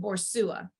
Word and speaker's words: Boussois: It's B-O-R. It's you pronounce it Borsua.